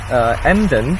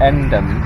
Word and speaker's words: Emden: I heard that somebody said that the local, when they pronounce this city very lazy, they just say So that's the way. But I just like the word Emden. It's like the German word Ende.